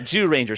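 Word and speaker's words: Zyuranger: Ranger abber Ranger and the Jew Ranger yeah Jew Ranger spelled zyu Ranger and it's pronounced Jew it's Jew is in beasts like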